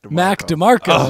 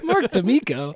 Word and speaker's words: Mac DeMarco: Mac DeMarco. Mac DeMarco. I said it so wrong. He's been saying it wrong all week. Mark D'Amico.